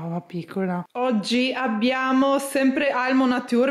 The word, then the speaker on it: Almo Nature: piccola oggi abbiamo sempre almo nature mi avete detto che un brand italiana si pronuncia all'italiana quindi almo nature essere beh penso peccato